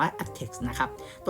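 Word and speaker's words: aptX: ฆ่า ตัว นึง ที่ เขียน ว่า apt x นะ ครับ อ่าน ว่า อัด text นะ ครับ ตัว นี้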